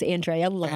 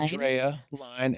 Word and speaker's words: Andrea Lein: my website is just my name which you pronounce correctly it's Andrea line Andrea line l i n l e i n and